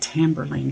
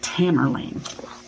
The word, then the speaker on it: Tamerlane: Anyway, going to read the first poem, and it's called, oh, I said Tamburlaine, didn't I? It's just Tamerlane.